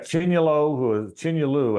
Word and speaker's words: Chinyelu: He got Chinyelu, that's how they pronounce it now, it looks like Patrick Young, big physical guy.